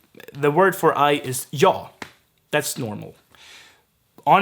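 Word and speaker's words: jag: have uh something like yaw yog so in i'm gonna go get to that but the g in yog gets dropped it's basically jaw all the time then hor i'm not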